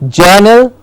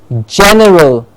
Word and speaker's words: general: and we call it Journal it's not journal but general jana general general yes